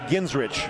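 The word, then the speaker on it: Genrich: had his name officially changed so it's called ginsrich ginsrich yep spell it for me g-e-n-r-i-c-h ginsrich okay so like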